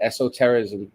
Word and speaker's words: esotericism: How do you spell that? How do you say it? Esotericism.